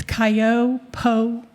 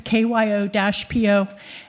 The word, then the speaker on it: Kyo-Po: This was for a community meeting that occurred last Wednesday at the I'm going to mispronounce this, Cayo Po Shopping Center. I apologize. It's KYO-PO, and it's at the intersection of Lawrence Expressway and Homestead Road next to McDonald's.